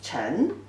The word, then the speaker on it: 臣: the subordinate, later on they refer to, and pronunciation is 臣, and currently the simplified version is like this, means subordinate or you obey.